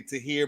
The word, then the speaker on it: Tahir: though I always say I always say to hear more like would you like